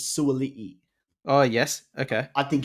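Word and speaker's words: Suaalii: I think Suoli, Suoli or Suali. I think that the pronunciation is Suoli.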